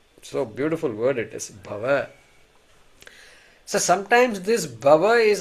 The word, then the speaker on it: bhava: this this word so beautiful word it is bhava so sometimes this bhava is I want to